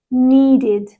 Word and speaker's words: needed: Well, the reason I say this is because when a word ends in a t sound or a d sound, we change the ed to id. So we add an extra syllable.